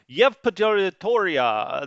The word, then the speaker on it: Yevpatoria: No, this is Y-Town. Yevpatoria. That's how the locals say it.